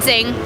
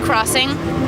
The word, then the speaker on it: Xing: actually it's actually we we pronounce it Zing but um people uh have interpreted it as well as Crossing cuz you know it's